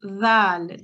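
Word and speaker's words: ذال: The tip of the tongue slightly comes out of the mouth like tha, but there is more vibration. The tongue is pressed against the edge of the upper teeth, and slight air should escape. So notice it sounds very similar to the tha, but it's a Z sound rather than a S sound.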